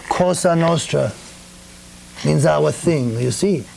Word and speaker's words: Cosa Nostra: Well, Cosa Nostra is the correct pronunciation in Italian, and literally means our thing.